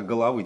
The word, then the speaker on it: головы: Не головы, а головы. Здесь ударение надо именно поставить.